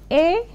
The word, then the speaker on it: Olga: I'm trying to figure out how to pronounce it. Olga is AULGAH.